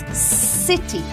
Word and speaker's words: city: Eso es city. Para decirlo, no sacamos la punta de la lengua entre los dientes, no. Se pronuncia como en S del castellano.